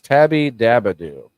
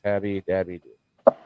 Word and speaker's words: Tabby Dabadoo: I'm saying it wrong. It's Tabby Dabadoo. Dabadoo. But I feel like, in the spirit of Fred Flintstone, I feel like it should be Dabby Doo. Tabby Dabby Doo.